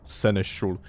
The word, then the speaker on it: seneschal: And at least in England, where I live, it is pronounced seneschal.